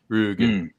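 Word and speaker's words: Rügen: I was trying to pronounce it correctly because it's the umlauts over the U, so it's Rugen.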